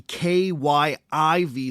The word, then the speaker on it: Kyiv: Ukrainian capital, and instead embraced the K-Y-I-V spelling and the Ukrainian pronunciation of Kyiv.